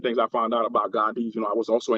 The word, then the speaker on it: Gun Dei: people why is it spelled Gandai but it's pronounced Gandhi.